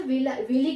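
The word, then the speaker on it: villi: इस तरह से फिंगर लाइक प्रोजेक्शंस प्रेजेंट होते हैं, जिसको हम लोग क्या कहते हैं, विली कहते हैं। किसी कहीं देखोगे कि विलाई भी प्रोनाउंसिएशन करता है, तो ये रहता है।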